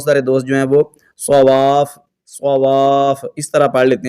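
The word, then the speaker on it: صوافّ: مسقل کریں گے، تو اس کو پڑھنا کیسے ہے؟ علیہا صواف، اس طرح واو کو فا کو جماؤ کے ساتھ، اس کا ہجے کیسے کریں گے؟ صاد زبر صا، واو الف فا مد زبر واف، اس طرح ملائیں گے، واو الف فا مد زبر واف، فا زبر فا، صواف، لیکن جب آپ وقف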